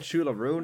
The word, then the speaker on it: Siúil: The thing about Siúil is I'm Irish, so I know I'm pronouncing it correctly when I say that.